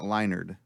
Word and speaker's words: Leinart: Matt Leinart. Matt Leinart. Right. There's no D in his name. Yeah, but it's pronounced Matt Leinart. Say his name. Matt Leinart. See? Sounds like a D.